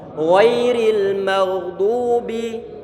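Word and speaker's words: غير المغضوب: Ghairil maghdubi, dotnya dia didhammahkan. Ghairil maghdub, ghairil maghdubi alaihim, ghairil maghdubi alaihim. Dotnya kita tebal dan pengucapannya dengan kita menyungkan bibir kiri kita, karena huruf dot dia dalam kondisi dhammah.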